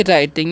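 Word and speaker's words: writing: क्या पढ़ते हैं जी राइटिंग यहां पर डब्लू साइलेंट होता है तो आई एम राइटिंग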